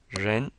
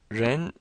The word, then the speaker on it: ren: Ren is very fun it's pronounced with a curled tongue like the sh so you curl your